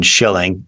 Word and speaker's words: Shilling: and just for context there's no C in Shilling just s chill used to be about four generations ago but I had a great great grandfather who uh he said well uh you don't pronounce it and it takes extra ink to write so he so he voluntarily